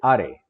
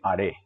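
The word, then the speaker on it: あれ: De nuevo, los demostrativos se acentúan en la segunda sílaba. Coré, sore. Y el tercero es haré. ¿Ok? No son core, sore, are. Son coré, sore, haré.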